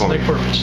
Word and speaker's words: Nick Prpich: All right, that is Nick Prpich of Arbella Insurance. Did I pronounce it right? Yes, Nick Prpich.